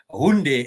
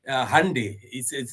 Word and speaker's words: Hyundai: Brother Reggie says the home of Hyundai and Kia. Yes, it's they pronounce it Hyundai. They say it's called Hyundai. In Zimbabwe, we call it a Hyundai.